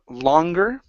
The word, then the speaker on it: longer: let's go to um longer okay right here instead of no longer okay the O in longer is an a sound okay so can no